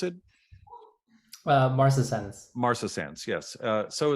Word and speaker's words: marcescens: But in this case, correct me if I'm wrong on this, David, it's Serratia, how do you pronounce it? Marcescens.